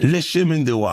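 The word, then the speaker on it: Le Chemin du Roi: Speaking of, how the hell you pronounce Lechem? Le chemin de roi.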